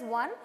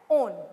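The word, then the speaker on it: -one: It's not pronounced as one, but it is being pronounced as own.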